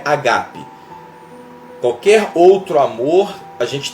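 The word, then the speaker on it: ἀγάπη: que na verdade ele no original não é Ágape é Ágape né Essa forma certa de pronunciar só tava estudando e eu vi que toda a palavra no grill ela tem acento tudo a palavra no alfabeto grego ela é acentuada e a palavra Ágape que que a gente conheceu como o amor de Deus né o amor incondicional essa palavra na pronúncia original mesmo é Ágape Oi e aí até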